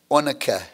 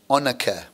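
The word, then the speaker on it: onycha: and then we have a word that sometimes difficult to pronounce, but I believe it's onica, onica, okay? Sometimes I pronounce it onica, but it's probably onica.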